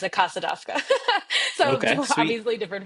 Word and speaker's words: DAVKA: I pronounce it CASA DAVKA.